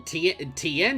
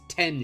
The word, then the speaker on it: Tien: i in it well tn shinhan is actually completely wrong too his name isn't tien shinhan it's 10 shinhan so his name his name wouldn't even be tn it would just be 10.